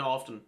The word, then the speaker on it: often: Most native English speakers don't really pronounce the T in often. They say often, right? But that sounds weird to me, so I don't say it like that.